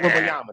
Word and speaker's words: Wembanyama: People are just going to go want to see him out of Wembanyama. curiosity. Yeah. Wembanyama, thank you.